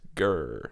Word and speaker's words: GR: GR, everybody called him. He liked it pronounced Grr, but I always called him Granville just to tick him off.